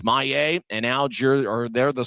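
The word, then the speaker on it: Maye: M A Y E his last name, but his pronunciate the pronunciation guide says his last name is May.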